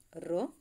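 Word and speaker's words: rho: இந்தலாம் புதுசாக ஒரு சிம்பிள் இருக்குது, ரோ. அதை எப்படி ப்ரொனவுன்ஸ் பண்ணணும், ரோ.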